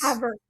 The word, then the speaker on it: Havertz: Havertz. Havertz. Oh, there's not an R. There is, you just don't really pronounce it. It's like Zach Ertz.